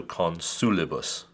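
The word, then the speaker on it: consulibus: it pronounces one and is it long x position is it followed by two consonants know it's only followed by a single be there for this syllable this penultimate syllable is short so you accent the sous sol con su Libous con su Libous therefore the accent goes on the antepenultimate the antepenultimate the third from the end let's take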